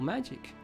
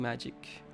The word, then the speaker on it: Magi: more happiness than studying magic. Human technology is great. And what's that? Magi? That's what I said at the beginning, but Morse told me it's a soft G and not the J one.